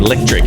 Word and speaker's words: LEKTRK: really good LEL and you've got a very unique spelling of uh your name electric so do you want to just spell that out uh it's l e k t RK l e k t